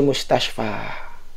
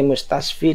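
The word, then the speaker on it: مستشفى: karena ada Alif lazimah sehingga dia bacanya Fi mustasfa ya tidak boleh Fi mustasfi tidak boleh karena ada Alif lazimah Adapun jika Isim tidak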